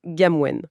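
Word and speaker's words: กรรมเวร: Oui, il s'attaque à un pilier de la psyché culturelle, le concept de Kanmuen, qu'on prononce Gamwen.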